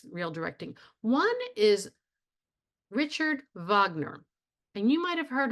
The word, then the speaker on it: Wagner: of sex migan okay Wagner Vagner uh pronounced V written with a W pronounced V Richard Vagner he redid the way